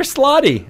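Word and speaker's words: slaadi: fun on skate there slotty is what I found out that's how you pronounce them I went out you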